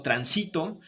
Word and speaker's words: transito: No es lo mismo que yo diga tránsito, aunque se escuche bien, aquí yo digo transito, que también se escucha bien, aquí yo diga transitó, ¿de acuerdo?